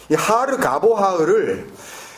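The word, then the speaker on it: הר גבוה: 매몰돼 버린이 높은 산 히브리어로는 하르 가보아라 이렇게 발음하는데이 하르 가보 아흐 하나님께서 말씀 가운데 어떻게 사용하시는지 만약에 우리가 찾을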